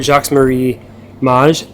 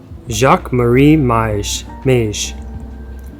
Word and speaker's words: Jacques Marie Mage: Okay, so it's Jacques Marie Mage. Jacques Marie Mage. That's the Google pronunciation. M-A-Y-J is the enunciation. So that would be Mage, right?